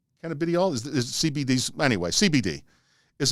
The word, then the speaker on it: cannabidiol: out that canada how do you say that canadial cannabidiol is cbd anyway cbd is a major here's